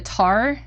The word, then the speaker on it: tar: And the the other instrument is, is that called a tar? Is that how you say it? Exactly, tar, yes.